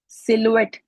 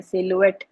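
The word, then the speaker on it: silhouette: बी वाला सही है सिल्वेट एस आई एल एच एच नहीं बोला जाएगा इसमें साइलेंट है और भी बहुत से साइलेंट है सेलुएट आखिर वाला ई भी साइलेंट है बी ये याद रखने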